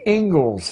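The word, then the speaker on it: Inglis: as it is the ingles lecture looks like English but it's pronounced Ingles and I would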